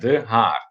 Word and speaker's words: De Haar: You spell it D-E, and then the second word Haar would be H-A-A-R. just like that, De Haar.